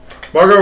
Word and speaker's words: Margot: what's her name godam Margo Robbie it's spelled Margot that's how you spell Margo Margo all right that's